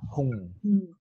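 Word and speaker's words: hūṃ: The end sound is an ng sound. Hung. Hung. Hung. So this is a nasalization in the nasal.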